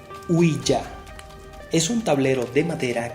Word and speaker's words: Ouija: La tabla Ouija, más propiamente pronunciado Ouija, es un tablero de